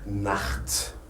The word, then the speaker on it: Nacht: On la prononce dans des cas spéciaux, Par exemple, si vous avez un A avant le CH, là, on dit que c'est un cha. Le CH, ça se prononce cha. Par exemple, Nacht.